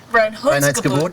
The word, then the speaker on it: Reinheitsgebot: Reinheitsgebot.